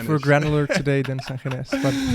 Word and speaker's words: Sangines: Did I pronounce that correct? Sangines. Sangines. Oh man, the Spanish. If we're granular today, then Sangines. But Sangines.